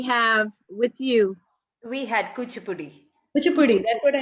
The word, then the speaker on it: Kuchipudi: uh did we have with you we had kuchipudi which a puddi that's what i showed you